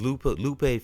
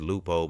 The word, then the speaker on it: Lupe: If you see, it says Lupo, but I meant to say Lupe, and I kept saying it all through the podcast.